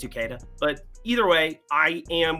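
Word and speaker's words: Uceta: Ukeda? Edwin Ukeda? I wasn't that far off. Yeah, you got it. Useta. That would be cool too, but I think it's Ukeda.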